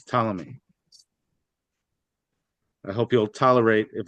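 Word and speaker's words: Ptolemy: mind that pomy is we don't pronounce the P it's talami I hope you'll tolerate if I say pamy by accident thank you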